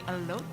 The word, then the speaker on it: elote: And the fries are We haven't tried the wings or the elote. Am I saying it right? Elote.